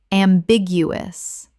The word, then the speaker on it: ambiguous: ambiguous Four syllables with the stress on the second, meaning open to more than one interpretation.